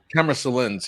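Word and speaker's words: Camera Silens: Thank you for introducing me to Camera Silence. Am I pronouncing that right? Camera Salins.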